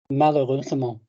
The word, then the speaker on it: malheureusement: Malheureusement. How many syllables in malheureusement? 5.